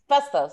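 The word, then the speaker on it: Phastos: Festos is how you say it.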